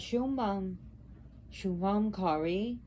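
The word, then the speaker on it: Shubhankari: i when you see the BH is very short not like boy but very soft a softer bee and show Mom Kari means the doer of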